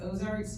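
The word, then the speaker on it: Auxarc: in the O it's it's Ozarks but it's spelled different I'm sorry I'll start over so that you can get the line but it's Au x a r c because it's French y'all um so the only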